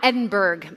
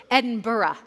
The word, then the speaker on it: Edinburgh: Not Edinburgg, by the way, which Scottish people will correct you if you say it incorrectly. Edinburgh. There's a another, you know, con like there's another syllable there that is hard to see.